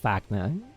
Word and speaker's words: Wagner: friend who said like the blacksmith in munch that is called fagna because the w oh yeah oh that's